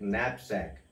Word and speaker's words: knapsack: any object knapsack here this k actually they see but you can imagine this k both are silent you can pronounce like knapsack this means a bag